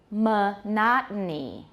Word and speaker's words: monotony: But the stress has shifted to which syllable? The second.